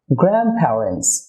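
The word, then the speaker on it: grandparents: গ্র্যান্ডপ্যারেন্টস। Dear viewer, দুটি কনসোনেন্টের মাঝে যদি টি বা ডি আসে, তাহলে ওই টি বা ডি সাধারণত সাইলেন্ট হয়ে থাকে।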